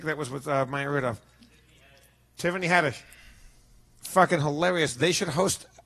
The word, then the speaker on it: Tiffany Haddish: Tiffany Haddish.